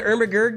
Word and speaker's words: Ermagerd: You don't know the Ermagerd girl? No. All right, look it up. It's spelled E-R-M-A-G-E-R-D.